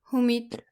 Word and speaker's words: human: We need to pay attention to the letter U in words like humid, huge, and human. There's a hidden U sound in there. It shouldn't be like humanit.